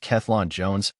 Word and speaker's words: Cellan Jones: recent conversation with th selin Jones pronounced klon Jones also discusses his memories